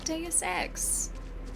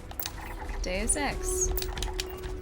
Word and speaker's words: Deus Ex: Deus Ex. That's how you say it. Deus. And X. Deus Ex.